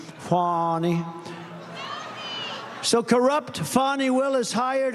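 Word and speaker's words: Fani: fny well it's now even though it's I believe it's spelled f a ni I to my way of thinking that's Fanny but when she became the district attorney I think she put a little emphasis on the U fny so corrupt fonnie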